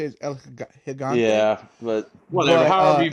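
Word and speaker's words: El Gigante: I say Eligant Gigante, but it's Eligante. I think I think the correct way to say Yeah, I think the correct way to say is El Higante.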